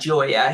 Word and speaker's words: Gioia: And there's a very good piece by Ted, I think you say his name, Gioia. I would say it like that, Gioia.